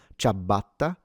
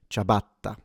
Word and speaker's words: ciabatta: single, as it's written, ciabatta. For non-native speakers, pay attention to the double T, because it's a longer or stronger sound, ciabatta, rather than ciabatta. The I at the beginning is not pronounced.